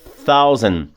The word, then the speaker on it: thousand: Ó, na primeira linha, a última, thousand, aí aplica aquela regrinha do TH no final. Thousand, que põe a língua entre os dentes. E o D é mudo, thousand.